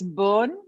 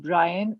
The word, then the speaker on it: Byrne: Rhoda Byrne is, by the way, it's burn, like the way you get burnt out. It's burn. That's how you pronounce. It's not Brian or Byron. It's burn.